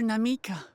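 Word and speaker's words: Namikka: where are you WL namika not namik she's B yes namik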